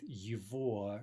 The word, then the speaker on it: его: By the way, you may have noticed the g here again is being pronounced as if it were v, right? Ova. And as we've mentioned already with его, right, that it's precisely this genitive form, его, or here we get a variation on that, ova. That genitive form is the only place in Russian where this happens, where the g is pronounced as a v.